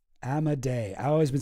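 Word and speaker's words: Amodei: Well, this is a dude named Dario A. Modi.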